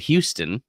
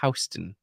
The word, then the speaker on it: Houston: If you're from New York City, there is a word that we have in Texas that is not pronounced the same way as it is in New York, and that is Houston. It's spelled Houston. It's what we call Houston out here in Texas, but it's Houston.